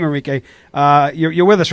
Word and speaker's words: Enrique: We have the leader of the Proud Boys and the Florida State Director of Latinos for Trump, Enrio Tario. Enrique, sorry, I mispronounced your name, Enrique.